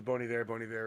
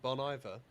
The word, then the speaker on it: Bon Iver: It's off the Bon Iver record, and that's another one of my favorite songs of all time.